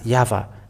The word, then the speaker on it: YAHVAH: So it is up to you to think when the Hebrew, when it is read in the Hebrew, the Yod, Hey, Vav, Hey is pronounced as YAHVAH.